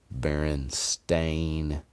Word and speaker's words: Berenstain: i'm not my mom didn't mispronounce it and say stein instead of stain i promise you if she had read it and it said s-t-a-i-n she would have said baron stain bears i know she